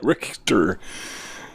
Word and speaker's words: Richter: Notice the German pronunciation. Richter.